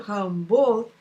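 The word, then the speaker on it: Rimbaud: um trocadilho mas sim um truque com a pronúncia semelhante dos dois sobrenomes Arthur rambau o poeta que viveu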